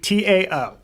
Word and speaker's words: Tsingtao: Ding Sao? Sing Sao? I apologize, I'm not being racist. I'm looking to the resident alcoholic. How do you pronounce it? I'm not getting in on this one. Tsingtao.